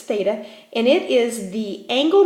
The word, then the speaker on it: theta: angle or Greek letter that we use its theta and it is the angle measurement in radians